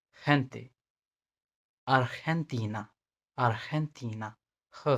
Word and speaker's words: gente: लेकिन जब ये ई और आई के पहले आता है, जैसे सी आता था, तो इसका प्रोनाउंसिएशन एच होगा, kind of H, like gente, gente, Argentina, Argentina, her sound,